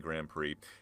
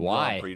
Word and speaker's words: Grand Prix: In the end, uh, George Russell, Kimmy Anteneelli, one two for Mercedes in the Australian Grand Prix.